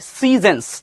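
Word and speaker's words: seasons: এটা কিন্তু সিজনস। ঠিক আছে, সিজনস, আমরা সুন্দরভাবে উচ্চারণ করবো, সিজনস।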